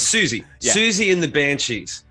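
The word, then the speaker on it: Siouxsie: The original lineup was a diverse group of genres, including, how do you say it? Susie? You should know Susie. Susie. Oh, it's Susie.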